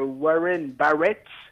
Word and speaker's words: Warren Barrett: Moi, figurez-vous, ce qui m'a le plus marqué, c'est que Warren Barrett, pour la prononciation anglaise, a le record donc de buts encaissés en 2 minutes.